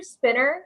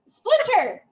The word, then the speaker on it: Splinter: Isn't it Master Spinner? It's not Spinner. Yeah. Splinter.